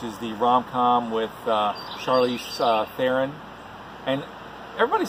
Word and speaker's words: Theron: kind of like Sharon it rhymes with Sharon so that's how you pronounce my last name is joining us Charlize Theron babe bra they came